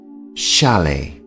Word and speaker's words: chalet: is called a chalet the t here at the end of the word is silent chalet and because they are